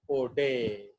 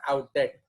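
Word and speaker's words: Oudet: term was coined by O'Day. तो इसका pronunciation है O'Day, not outdated. रश्मि इसको कैसे बोलेगा? Outdated. No, इसको आप बोलेंगे O'Day.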